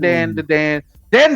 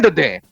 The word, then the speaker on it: Dan Da Dan: premiere of D Dan you got to say it like that not Dan Dan D Dan because it begs that